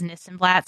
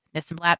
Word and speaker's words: Nissenblatt: If you search this and that, my last name is Nissenblatt, so this and that rhymes with Nissenblatt.